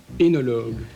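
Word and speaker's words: œnologue: Tu prononces correctement et distinctement surtout ce qui est sur ton écran de contrôle. Énologue.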